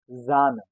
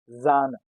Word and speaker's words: Sahne: In German language, S sounds as Z.